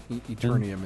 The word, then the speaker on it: Eternium: Interim, is that how you say it? Interim? Eternium is how I pronounce it.